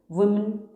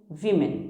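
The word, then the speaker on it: women: वुमेन विमेन, now remember वुमन singular है तो कुछ लोग इसका प्रोनाउंसिएशन प्लूरल में वुमेन करते हैं, दिस इज़ रॉन्ग। सिंगुलर में वुमन इज़ करेक्ट लेकिन प्लूरल में इसका प्रोनाउंसिएशन वी मैन होता है, विमेन, वुमेन नहीं होता, वी मैन।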